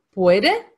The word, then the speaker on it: puede: In het Spaans spreek je natuurlijk elke letter uit, hè? Dus puede is het dus die E-klank en die U-klank en die I. Dat kennen ze helemaal niet. Dus het is puede.